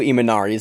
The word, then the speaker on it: Imanari: you misspelled so I felt both ways masakazu imanari M&R Eamonn Aria masakazu imanari is a small Japanese man that we've covered